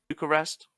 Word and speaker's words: Bucharest: Bucharest.